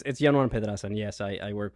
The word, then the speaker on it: Yanuan: So I'm going to let you pronounce your name, but I think it's Yanuan. Yanuan.